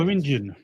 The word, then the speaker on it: Beringian: I can never pronounce this. Oh, Beringian.